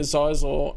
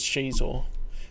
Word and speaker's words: Xizor: Because I was pronouncing it Xizor, and then read the junior novel, and it literally had the pronunciation as Xizor, phonetically spelled.